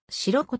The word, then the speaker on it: 白子: 4 丁目まであるちらことも毒されることがあるが白子と読むのが正しい白ここを持つ